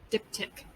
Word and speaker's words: diptych: diptych okay what the diptych you pronounce it just like dip and tick dip tick the diptych is a uh